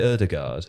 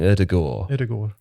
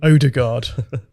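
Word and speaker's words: Ødegaard: so i would say erdegaard but that's wrong erdogan you sort of soften the d you soften the d there maybe there may be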